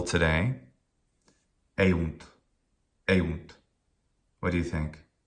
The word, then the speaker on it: eunt: Well, the first syllable is e, and it's a short vowel. It doesn't end in a consonant. That syllable is short. The second syllable, oh, short vowel, but 2 consonants at the end, definitely a long syllable. It takes more time to utter that syllable. Therefore, it is long.